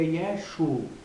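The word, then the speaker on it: ישו: Galileia né E que a pronúncia mais correta seria yesu né para o nome de Jesus sem esse a final que é uma consequência do sinais massoréticos né então nós vamos defender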